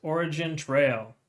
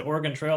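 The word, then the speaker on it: OriginTrail: a look here at origin Trail I said it right this time I said Oregan Trail last time anyways it's considered track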